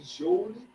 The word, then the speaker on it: joule: Se escreve joule, mas você lê joule.